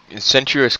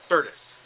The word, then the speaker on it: Certus: Sentuous Court and Charged Sentuous Court. Certus, actually Certus. pronounced.